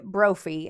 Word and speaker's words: Brophy: So, Daniel Craig Broofphy, and it's spelled like trophy with a B, uh, was born on June 27th, 1954 to Karen and Jack Brophie in Valley City, North Dakota.